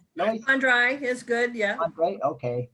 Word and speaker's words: Fandre: Before we hear from this evening's speaker, Loyce Fandre, do I pronounce that right? Loyce? Fandre is good, yeah.